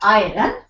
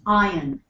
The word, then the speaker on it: iron: think this absolutely correct it's not iron it's iron wow data or data